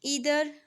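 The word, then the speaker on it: either: Each, ईदर एंड नीदर, इसको कुछ लोग जो है वो आइदर एंड नाइदर भी पढ़ते हैं, बोथ प्रोनाउंसिएशंस आर करेक्ट।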